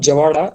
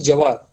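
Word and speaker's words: jowar: It is not farmering, it is farming, and it is not Javada, it is Jawar.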